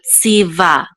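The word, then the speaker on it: צִוָּה: And this vav with a dot through it, the shuruk is usually an u sound, but because it has a vowel also here, we're gonna pronounce it like a vav with a v sound. With this kamatz, which says ah, and the hey together, we'll say va.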